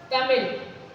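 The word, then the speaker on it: तमिऴ: तमिल, तमिल, ल, न इसका उच्चारण पूरा ल है और न ही ड़ है। इन दोनों के योग से जो उच्चारण हो रहा है वो इस विशिष्ट व्यंजन का उच्चारण आपको करना है,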